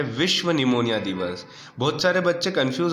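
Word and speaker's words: pneumonia: the world निमोनिया डे इसको आप इन harmonium मत पढ़िए का फ्रेंड्स यह निमोनिया है ठीक है नहीं तो इंग्लिश में बहुत सारे बच्चे जहां साइलेंट करना वर्तमान नहीं करते हैं तो हिंदी में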